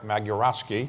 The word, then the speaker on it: Magierowski: We're very pleased to have our conversation today with the ambassador to the United States from Poland, Marek Magierowski. Did I pronounce that correctly?